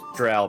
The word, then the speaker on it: Drow: It's Drow, by the way. It's too late to change. It's too late to fix it for me. I've been saying it wrong all these years. It's literally pronounced how it's spelled. Looks like Drow to me. Drow. Ow is an ouch.